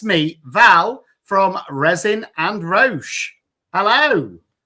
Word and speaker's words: Roche: So before we go any further, I want you to Am I pronouncing it right? It is resin and ro, isn't it? Yeah, Raj. That's fine. I'm just making sure. It's ro.